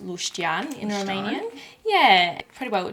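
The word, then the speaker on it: leuștean: got some packet seasonings so this one is pronounced lustian in romanian yeah pretty well translates to the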